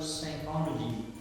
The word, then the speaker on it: psychology: P is silent.